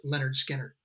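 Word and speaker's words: Lynyrd Skynyrd: 50 years ago, Leonard Skinnard released their first record, pronounced Leonard Skinner.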